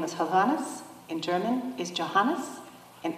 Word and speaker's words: Hovhannes: My name is Hovannis. In German is Johannes. In Arabic is. Hana Ahakim. Yes, my name is Hovannis.